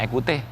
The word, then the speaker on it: Ecoutez: Bacanya Ekhute apa Ekhutes? Ekhute.